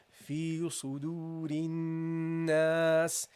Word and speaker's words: في صدور الناس: And at the end, guys, you got the scene, which has a kasra, but you drop this at the end because you don't pronounce any vowel at the end of speech.